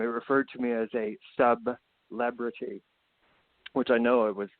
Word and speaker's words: Sub-Lebrity: Sub-Lebrity. Yes, we got to pronounce that hyphen because I am not a celebrity.